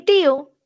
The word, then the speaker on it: tío: Y tío, que uno diría es un monosílabo, no lo es.